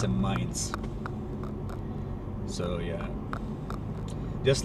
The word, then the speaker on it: Mainz: there is mines City so mines is like Z at the end it's basically mines but in German pronun pronunciation it's a mines so yeah just like